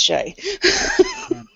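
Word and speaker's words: Skjei: don't have no chance he's it's it's it's pronounced Shay from what remember from the list the only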